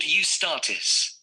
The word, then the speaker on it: Eustatis: The next day, the 18th, there's a performance by a ballet company called Eustatis. Sorry? That's not gonna. The name is spelled E-U-S-T-A-T-I-S.